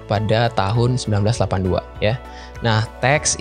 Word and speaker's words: TeX: tahun 1982 ya nah teks ini dibaca dengan tek Ya jadi ee cara bacanya itu tidak teks atau dengan huruf x tapi dengan CH ya tag nah sementara lah tag